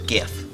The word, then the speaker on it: GIF: the voice of god himself told you it's pronounced gif seriously seriously i don't know maybe it's pronounced gift i'm still not convinced uh yeah